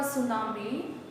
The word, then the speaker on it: tsunami: Since tsunami की spelling होती है T-S-U-N-A-M-I, but the pronunciation is tsunami. T here is silent. T silent होता है, हम लोग उसको नहीं बोलते, हम लोग S से स्टार्ट करते हैं, ठीक है?